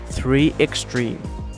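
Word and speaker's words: 3Xtrem: designed for extreme conditions in English the company name is pronounced 3 Extreme the designation 3 x55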